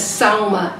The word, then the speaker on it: Salma: Her surname is Khodabux, and I'm sure you say her name as Salma, S-A-L-M-A, and Kerry Jones.